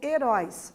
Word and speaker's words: heróis: heróis e erótico então heróis manteve ali o acento agudo na letra o né é uma palavra oxítona a sílaba tônica sílaba com maior intensidade é na última sílaba então heróis né se